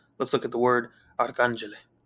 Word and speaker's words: arcangele: For example, let's look at the word arcangele. Notice the acute accent mark over the second A, which tells us that this is the syllable that we need to stress. And so we say arcangele, arcangele.